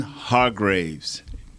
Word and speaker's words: Hargrave: fear him and and javon hargraves i'm pronouncing that right correct number 97.